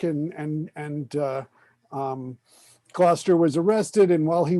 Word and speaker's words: Gloucester: it's not gloucester it's gloucester the u is the u is not pronounced i'm just nitpicking yeah